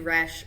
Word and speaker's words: Roesch: I am Roesch, rhymes with fresh.